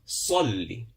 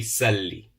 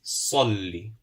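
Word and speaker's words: صلّ: We said that the Sad, because it's written with a rounded figure, we pronounce with a round mouth. Salli. It won't be Salli. It won't be Sa, or it won't be Swa. It's Salli.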